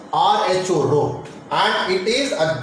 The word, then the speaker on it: rho: difference the draw it is written rule is pronounced Rho Rho and it is a Greek letter used